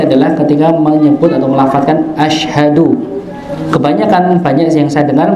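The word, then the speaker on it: أشهد: Dan yang saya soroti adalah ketika menyebut atau melafazkan ashadu. Kebanyakan banyak yang saya dengar bacanya ashadu dengan sin bukan syin ashadu bukan ashadu ashadu alla ashadu alla ya.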